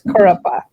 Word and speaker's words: Kurup: So the hype when this movie Kurup, it's pronounced, it's hard for me because when I see it, but the Malayalam pronounces this Kurupa.